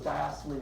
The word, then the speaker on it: diastole: I as my ears perk up so it's diastole and systole but some you know spell that way okay so when the heart muscles in diastole its relaxed low pressure it's filling with blood